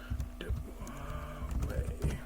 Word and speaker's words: Huawei: Huawei.